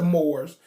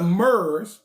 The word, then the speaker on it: Moor: This is these people that became what we know as the Moors or the Murs. That's the correct name. Or a more appropriate enunciation is Mur. Moor is a mispronunciation of the name.